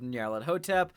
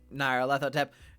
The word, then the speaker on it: Nyarlathotep: Otherwise known as Masks of Nyarlathotep, Nyarlathotep. Take your pick of pronunciation, it's fine. It's okay.